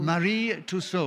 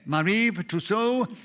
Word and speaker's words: Marie Tussaud: I was pronouncing it correctly in French. No, you were. Very French. You can take the English pronunciation if you wish. Okay. Marie Tussaud.